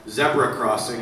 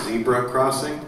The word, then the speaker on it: Zebra Crossing: out in November called zebra Crossing if you try to find it on a streamer it's spelled exactly like zebra Crossing but it's pronounced like the Brits pronounce it all right and then